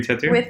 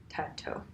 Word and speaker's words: Tautou: Audrey Tautou. I want to say her name correctly. Yeah. Audrey Tautou.